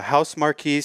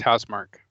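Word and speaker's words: Housemarque: let's jump right into the first story uh house marquis says we hear the community as returnable players call for save and quit option i think it's pronounced house mark house mark okay um so house mark has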